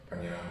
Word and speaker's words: Pranayama: The whole reason I came across you was I sat with you and done a class with Pranayama. Did I pronounce it right? Yeah. Pranayama was absolutely fantastic.